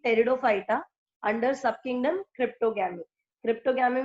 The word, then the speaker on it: Pteridophyta: Pteridophyta. P is silent.